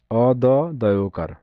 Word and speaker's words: অদ্য: অদ দয়কার অদ্য। ঋণ এর সঠিক উচ্চারণ কোনটি?